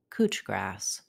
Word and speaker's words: couch grass: this plant is called couch grass couch has vowel ow couch like the couch we sit on in Australia they pronounce this kuch grass instead of Al they use cooch grass have a word or